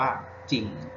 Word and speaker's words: จริง: อ่าน เสียง อ่าน ว่า จริง น่า กิน ครับ ไม่ ออก เสียง ตัว รอ เรียก แล้ว ถ้า พวก กับ ท.